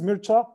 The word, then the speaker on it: Mircea: of introduction of myself my name is mircha this is quite hard to pronounce if you're not a Romanian basically it comes from